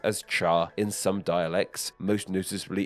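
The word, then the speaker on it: 茶: character pronounced as two it is pronounced completely differently being pronounced as Char instead Yep this is where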